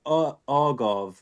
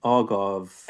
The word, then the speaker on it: agave: Or there's a there's something called argav. Agave. Agave. That's the one.